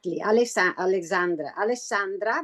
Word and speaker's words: Alessandra: So today we have our esteemed guest, whom I'm highly thankful for her contribution and her time, Alessandra. I hope I'm pronouncing your name correct, Alessandra. Exactly. Alessandra, but it's okay, Alessandra.